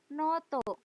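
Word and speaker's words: ノート: Yang terakhir, noto. Buku catatan. Berbeda ya. Buku dan buku catatan. Noto dari kata note. Bahasa Inggrisnya note. Noto. Ya. Noto. O-nya double dibaca panjang.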